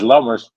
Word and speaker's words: Lammers: I always it's Lammers, but I always thought if ever I go